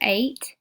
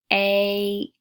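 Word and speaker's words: eight: All right, our other special sound is E-I-G-H, like in the word 8. It actually makes a long A sound. E-I-G-H sounds like A. 8 in the word 8.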